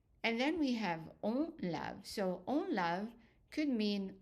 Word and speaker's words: lave: And the E also is silent. So, je lave, we add in an E in writing, but it's not pronounced.